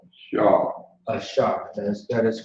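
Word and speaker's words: AHSHAR: Do you know how to pronounce it? That's right. Shaw. Ashar.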